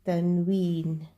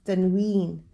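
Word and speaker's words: tanwin: That is known as Tanween, and it is pronounced with a N sound at the end.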